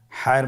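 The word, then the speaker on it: ح: হায়ের মধ্যে কোনো নোক্তা আমরা দেখতে পাচ্ছি না। হা হরফটি কীভাবে উচ্চারিত হবে? হা হরফটি উচ্চারিত হবে কণ্ঠনালীর মধ্যখান হতে। গলা চিপে ধরে আপনি উচ্চারণ করুন।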